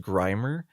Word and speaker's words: Grimer: This pun doesn't even work because Grimmer's name is actually pronounced Grimer, and so that means the whole joke doesn't work because I was basing it off of like an incorrect pronunciation.